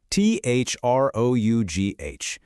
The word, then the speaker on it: through: And just when you think you might be cracking the code, this one comes along, T-H-R-O-U-G-H. And now it's through, a totally different OO sound.